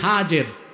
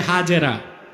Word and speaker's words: হাজের: ইব্রাহিম এবার তুমি তোমার স্ত্রী হাজের যাকে আমরা বলি হাজেরা হাদিস শরীফে তার নাম এসেছে কি নামের আমরা বলি সমস্যা নাই শুদ্ধ উচ্চারণটা কি হাজের হযরত হাজের আর তার